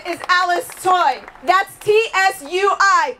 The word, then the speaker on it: Tsui: That's T-S-U-I, pronounced Tsui.